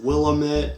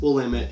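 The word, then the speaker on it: Willamette: do but you know clamus willit weslin no it's clus will liit and Westland also I forgot to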